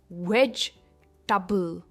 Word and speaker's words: vegetable: Next, अब इस word में भी अक्सर गलती होती है क्योंकि लोग इसे टेबल कह देते हैं, जबकि ये है वेजिटेबल, और स्ट्रेस वेज पर है. इट्स वेजिटेबल एंड नॉट वेजिटेबल. वेजिटेबल, सब्जी, इसका मतलब होता है वेजिटेबल.